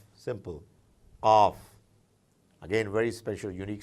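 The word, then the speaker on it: قاف: Qaf, again very special, unique sound, qaf.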